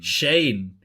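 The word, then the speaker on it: Schoen: giants and uh joe showing or shooting or shane shane apparently is the pronunciation the experts uh gm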